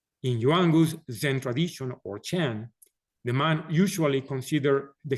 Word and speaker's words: Chan: were taken to China the word Diana became Chan when the Chan teachings were taken to Japan the pronunciation was changed to Zen so when you hear